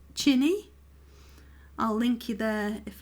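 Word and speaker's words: Qinni: find that as well it spells their name q-i-n-n-i it's it in her language is pronounced chinny because it's a q-i so and then if you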